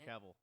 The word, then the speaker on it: Cavill: you're saying uh you're saying it right Henry Cavill Henry Cavill ran into that problem of like